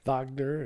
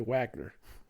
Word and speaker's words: Wagner: I don't know I I kind of don't like calling him vogner because he's really Wagner well he's German I know but still it's spelled with a W fair enough so but I do say Vagner secur guard also says